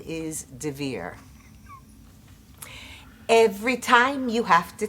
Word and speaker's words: Dver: Last name is spelled D as in David, V as in Victor, E-R. There are no extra vowels, there are no apostrophes, but it's the kind of name that when you see it written, you mispronounce it. If you hear it, you're going to misspell it.